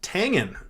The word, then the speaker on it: Tangen: have you and uh it is pronounced Tangen all right like the Tang drink hey here's one I